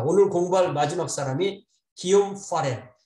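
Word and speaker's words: Guillaume: 그래서 이게 이걸 기욤이라고 읽는데 이게 저는 프렌치를 배운 적이 없어서 이 프렌치 하는 사람들 너무나 위대해 보이거든요. 이걸 어떻게 기욤이라고 읽나? 기욤 파렐. 영어로 말할 때는 윌리엄 파레드. 그러니까 윌리엄이라는 말의 이 불어 발음이 기욤인 거예요.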